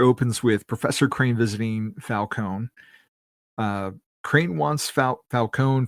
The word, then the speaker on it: Falcone: And are you a Falcone or a Falonee guy? Falcone. Okay. I like Falcone. I like that pronunciation better.